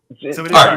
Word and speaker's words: Arch: Is it Arch or is it Arch or how do you pronounce your last name? Well, it's Arch. It's Arch.